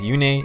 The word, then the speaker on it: Yune: English like I have, they pronounced Yune as Yune, and that's what I've always called her, but since the Makai in this game pronounces it as Yune, I'll try to stick with that.